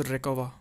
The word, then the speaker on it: Recuva: It's pronounced Recuva, okay?